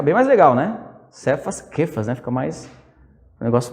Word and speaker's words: Kefas: Kefas, né? Se pronuncia Kefas, é com K, né?